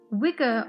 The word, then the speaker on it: Wicca: He writes about Wicca, but the extra C was added in the 1960s. We pronounce it as Wicca. Gardner claims that the name came from Scots English and signified intelligent people. The gods. Wicca honors the divine as